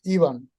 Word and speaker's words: Ivan: know if you realize I've been calling you Ivan this whole time yeah I mean it's uh Ivan but uh in in Europe that's even and last name is uh pronounced is it